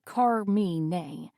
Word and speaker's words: Carmine: My name is Carmine. I notice he pronounces it as Carme.